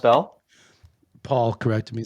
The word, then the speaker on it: Bell: So, speaking of Keith Bell, It's pronounced Bell.